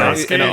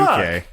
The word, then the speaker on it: Sasuke: Well, Wait, anyway, Sasuke, you don't pronounce the U? No, you Well, don't. it's not What the Sasuke. Yeah. It's Sasuke.